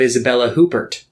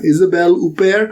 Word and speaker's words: Isabelle Huppert: i think the uh i don't think they pronounce the first stage i think it's up here or yeah isabel upair i'm i'm gonna sound